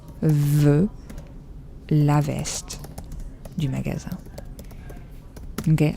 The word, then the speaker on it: magasin: It's magasin. So the S is pronounced like a Z. When do we do that in French? How do you know if an S is S or if it's Z? I hope you can hear the difference. Well, it's just when you have one S between two vowels, and those vowels here are A and I. A et I. Then the S is going to be pronounced as a Z.